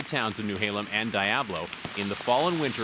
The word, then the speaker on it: Diablo: As the dams were built, Seattle City Light created 2 company towns, New Halem and Diablo, to house workers and their families. Workers up here pronounce it Diablo and not Diablo, and they still live in both of these company towns.